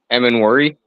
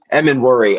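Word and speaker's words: Emmanwori: How do you actually pronounce that? M and Worry. M and Worry. Okay. Gotcha. Gotcha. I thought it wasn't true if it was Eman, but yeah.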